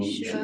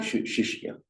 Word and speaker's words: Shishya: Guru, can't quite pronounce the word Guru Shisha. Shishya.